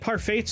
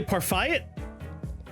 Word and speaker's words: parfait: Do you have a problem with how I say parfait? I think you're confused. Silent T. I don't think so. What is it? Q. Come on. The T is silent.